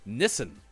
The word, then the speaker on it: Nissen: a kid uh george nissen sounds like the uh way that nissan is pronounced in many parts of the world nissan listen uh 816